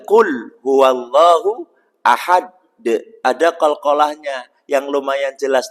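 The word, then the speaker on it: قُلْ هُوَ اللَّهُ أَحَدٌ: ya sudah fasih hafal qulhuallahu Ahad penutupnya pakai ta itu juga salah berarti Qul huwallahu Ahad ada qalqalahnya yang lumayan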